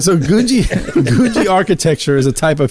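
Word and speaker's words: Googie: an architecture style called Gouji. Gouji. I had to Google that just to make sure I said it right. Gushy? Gouji. Gouji. Gouji. Not Gucci. Not Gucci. It's Gouji.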